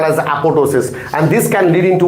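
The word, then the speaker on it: apoptosis: The next role and most important role of P53 gene is apotosis. This P is silent. This B is silent and this is called as apotosis.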